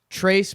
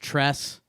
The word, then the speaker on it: Trace: Trace Barea. His name is supposedly pronounced Tress, but it's spelled Trace.